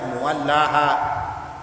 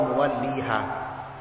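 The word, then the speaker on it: مُوَلِّيهَا: muallaha dalam satu riwayat ada qiraah yang mengatakan bacanya muwallaha kalau kita Hua muwalliha yang diajarkan guru-guru kita fastabilirat fastabiqu Moko salib-salibanlah maka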